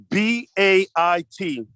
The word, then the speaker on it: bait: B-A-I-T. And this is pronounced just like in the English word bait.